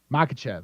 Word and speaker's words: Makhachev: Makhachev.